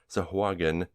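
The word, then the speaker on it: Sahuagin: death approaching and yes that is how I am pronouncing sahagan because Wizards of the Coast can't make up their mind about how it's pronounced so that's what I'm sticking with if you can prove that it's pronounced a different way then I will change the way I say it the heroes decide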